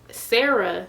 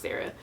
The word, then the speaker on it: Sarai: it's Grown Women by Sarah Johnson. I know it looks like Sarai, but her name is pronounced Sarah. If you go on her Instagram, she says like it's pronounced Sarah.